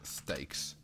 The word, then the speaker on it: steak: Guest steaks. That says streaks. Steaks. Fanny, if I add an R, it changes the pronunciation of the EA from A to E.